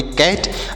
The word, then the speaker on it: cat: CAT, तो सी से पढ़ेंगे क और यहाँ पर ए का उच्चारण आई की मात्रा के रूप में, टी से ट, तो इसे पढ़ेंगे कैट।